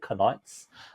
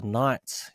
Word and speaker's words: Knights: I was about to say Knights. I was about to pronounce the K.